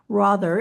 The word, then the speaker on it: Rother: We have New York Times best-selling author Caitlyn Rother. Am I pronouncing that correctly, Caitlyn? Rother rhymes with author.